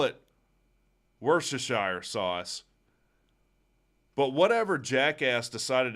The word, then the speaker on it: Worcestershire: How do you pronounce this? Can anyone tell me? I call it Worcestershire sauce.